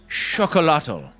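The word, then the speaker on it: xocolatl: Fuzzy Cord and is it Zocolotl, the root of chocolate? I guess it's chocolotl. I don't know how to pronounce that X there, Fuzzy Cord. Were you celebrating mid flip? It's a sh sound. Chocolatl.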